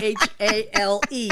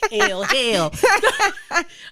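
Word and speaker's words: Hale: Hal. It's spelled H-A-L-E. Hal. Just making sure. Hell. I know every time I say it like that, people go, hell. No, Hal. She's like, just stop saying my name.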